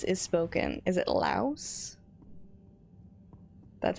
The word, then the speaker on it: Laos: It is pronounced Laos.